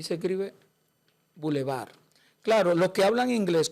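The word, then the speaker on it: bulevar: Y también la Ah, esta sí es muy buena la palabra boulevar. Boulevar. Así mismito como suena, como si fuera el bebo elevar. No digo boulevard.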